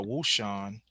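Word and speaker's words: Wouxun: gonna show you it's called a wu sean it's spelled w-o-u-x-u-n it's called a wool shirt this was actually my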